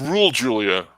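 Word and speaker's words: Raúl Juliá: fighter shame on me his name is pronounced rule julia i love raul julie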